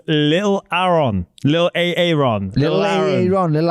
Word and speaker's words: Aaron: Americans say Aon, which is wrong. Little Aaron. We say Aaron because that's how it's spelled.